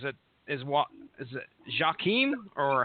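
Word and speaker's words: Joakim: is what is it jaim or how you any idea it's it's Yim Yim okay uh Mel Tonia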